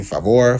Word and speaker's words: Favour: Some people call me Favor, Favor, and because the U is confusing, yet it's pronounced favor.